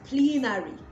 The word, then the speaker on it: plenary: And of course, that leads us to this next one, which is plenary. Plenary, not plenary. I hear a lot of people say plenary, plenary. It is plenary, E, the long E sound, okay?